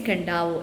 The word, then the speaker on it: Kadavu: Turtles of കെൻഡാവോ, കടവു എന്നാണ് spelling എങ്കിലും the correct pronunciation is Kandavo. It is a Fijian island and the writer visited